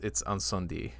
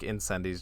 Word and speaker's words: Incendies: It's Incendie. Just because like not like Incendies just sounds so like weird to me to hear now.